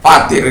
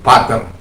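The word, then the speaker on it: πατήρ: Ya, yang sering disebut pater. Tapi dalam bahasa pronunciation yang Greek, modern Greek itu patir. Jadi epsilon sama ita itu bacanya beda. Epsilon ita itu kita baca i.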